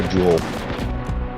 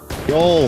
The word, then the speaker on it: Joel: Also, who pronounces Joel as Jewel? I don't know how to pronounce the names. I'm an idiot. You play Helldivers, you should know how to pronounce it. I just started playing Helldivers. Joel. You've been talking Joel. to It's Joel, my bad.